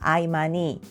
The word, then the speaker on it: Imani: before making this video Should I change my pronunciation and call it yi-ma-ni? But because this brand is a Korean brand I decided to search for its original Korean name. Well, the answer is 아이마니 ai-ma-ni I pronounced it right from the start Yay ( •̀ ω